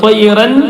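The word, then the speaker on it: طيرًا: ആ നൂനിനെ മാറ്റിയിട്ട് മീമായി കൊടുക്കണം. ത്വയ്റന് ത്വയ്റം ത്വയ്റം ബിഇദ്നില്ലാഹ്.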